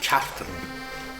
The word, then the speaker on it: Cartron: Well, we're here in the townland of the village of Cartern. It's locally pronounced Cartern, but it's spelled Cartron, C-A-R-T-R-O-N, Cartúr in Irish, which means a quarter of land.